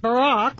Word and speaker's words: Barack: Add to all this that Barack rhymes with Iraq.